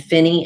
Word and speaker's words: Phinney: The Davis Finney Foundation, it's Davis, Davis, and Finney is spelled with Phinney, and Davis Finney Foundation.